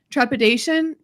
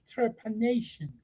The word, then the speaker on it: trepanation: it and I found out that it was trepidation am I saying it right trepanation trepanation of the brain because then when I